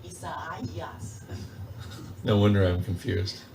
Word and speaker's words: Isaias: I think it's EIEIOSS. Is that it? The hurricane will come tomorrow. Yeah, is it called EIEIOSS? Isaias.